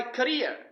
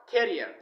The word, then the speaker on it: career: you picked the wrong career you destroyed my career not career the next one is uh what is it